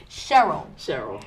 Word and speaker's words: Sharel: I want to thank, I just realized that I was pronouncing your name incorrectly. Sharel.